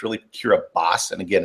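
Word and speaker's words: Kiribati: spelled k i r i bi TI people pronounce it cir body but it's really curas and again it's one of these weird pronunciation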